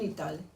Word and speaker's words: Italie: La I se pronuncia. En Italie.